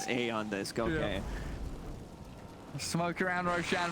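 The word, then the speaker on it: Aeon Disk: removed from the game e on this pronounced a on this go okay smoke around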